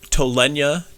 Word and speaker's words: Tolenia: to do more reading it is it is pronounced molassa uh m o l i have bad eyes i'm sorry m-o-l-a-s-s-a uh tolenia t-o-l-e-n-i-a and konu is k-o-n-u um these are